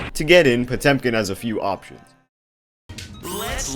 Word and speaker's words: Potemkin: quite the coincidence that potemkin rhymes with 10 pin because potemkin's game plan